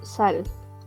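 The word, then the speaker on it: 살: Se pronuncia como sal, como la sal.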